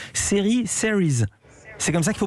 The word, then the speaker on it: Series: Eva, toujours en direct depuis Fontainebleau, où vient de débuter le festival, j'espère bien prononcer, Series. C'est comme ça qu'il faut prononcer, Eva. Non, vous prononcez à la française, série.